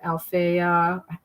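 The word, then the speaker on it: Alafair: Her stuff that she's had later on, and especially with Althea, that's how you pronounce her name, Burke.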